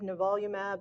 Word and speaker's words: nivolumab: One of the challenges of checkpoint blockade is pronouncing the medications. So it's ipilimumab, nivolumab, and pembrolizumab.